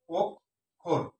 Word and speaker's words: অক্ষর: তাহলে এখানে সঠিক হচ্ছে ওক খোর থাকলে ক খ মাঝখানে থাকলে ওক খোর পরেরটা ওকার হবে অক্ষর সঠিক উচ্চারণ হচ্ছে ওক একটা অক্ষর আর খোর একটা অক্ষর অর্থাৎ দুটি অক্ষর দুই সিলেবাল বিশিষ্ট শব্দটি অবিশ্বাস এই বিশ্বাস